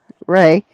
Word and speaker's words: Rea: Isn't R-E-A Ray? Ray. Yeah, that's the way my niece pronounced it when they named her Ray.